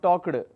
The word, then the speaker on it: talked: Like work is worked, book is booked, it's not booked or talked. So, don't pronounce like that, it's begged, worked, looked, booked. The suffix ed can say the t, like in the word talked. Now, we don't say talked,